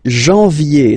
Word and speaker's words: janvier: But anyway, janvier, so that's the way to pronounce it. Janvier, A-N, en, okay, and then ye, janvier.